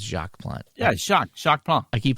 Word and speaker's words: Jacques: Oh, by the way, PJet says Jacques the S is silent. It's Jacques Plante.